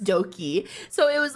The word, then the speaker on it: Doki: what if it's spelled, it's like Doki, but instead of spelling with a D, they spelled it with a B or some shit, but it's also still pronounced Doki.